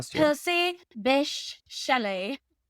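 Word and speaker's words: Bysshe: And yes, it's pronounced Bish, but it spelled B Y SS H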